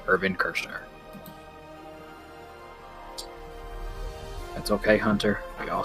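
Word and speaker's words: Irvin Kershner: Is it A, George Lucas, B, Lawrence Kasdan, C, Richard McCord, or D, Ivan Kirchner? To mispronounced fix almost all of Hunters, it's George Lucas, Lawrence Kasdan, Richard Marquand, or D, Irvin Kirchner.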